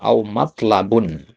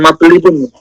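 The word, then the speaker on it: مطلب: Amma a bihi biwalidaika biranan fahua amrun matlabun. Ya, ini bacanya matlab ya. Matlab kenapa? Bukan matlibun bukan ya. Matlab matlabun adzimun ya. Bukan matlubun ya.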